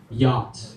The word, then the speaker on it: yacht: some things are not spelled the way they're pronounced like a word yacht that's my oh I hated that word you